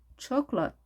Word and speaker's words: chocolate: chocolate. 두 가지 발음 가능합니다.